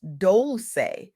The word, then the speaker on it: Dolce: As Leanne Dolce, pronounced doulce like sweet softness whispered in French reminds us on her powerful soft girl era podcast, softness is not weakness.